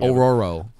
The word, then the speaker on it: Ororo: roar el pájaro I think I think you pronounce it wrong Ororo oh yeah yeah you're right thanks all right